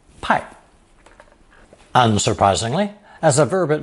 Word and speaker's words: 派: Pronounced fourth tone, 派, pai.